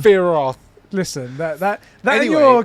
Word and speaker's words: Sephiroth: Don't pronounce the P. That's how you say the name. Sephiroth.